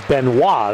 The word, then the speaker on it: Benoit: And so it is Benoit, we're told is the pronunciation.